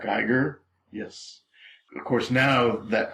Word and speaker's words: Giger: xenomorph was designed by I'm probably going to mispronounce his name HR gerer Giger yes of course now that creature horrible as